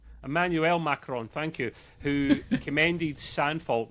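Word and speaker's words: Emmanuel Macron: This time the game was also praised by French president Macaron. Look at that. I've butchered his name and I can normally say Emanuel Macarron, thank you.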